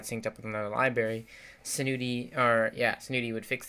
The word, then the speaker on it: Senuti: very one pronounce it i pronounce tent senuti senuti but um you know maybe passing along after all right I've heard some people pronounce its nu ty but anyways basically I